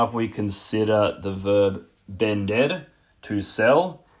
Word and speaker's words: vender: Just a very quick side note getting back to the verb vender. The letters V and B in Spanish make exactly the same sound. So vender is spelled V-E-N-D-R, not B-E-N-D-R.